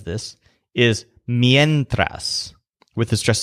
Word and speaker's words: mientras: word for while when he says this is mientras with a stressed syllable yen mientras it's interesting to note that